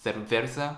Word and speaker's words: cerveza: They told me C and Z is like TH sound in English, like the. So gracias, cerveza.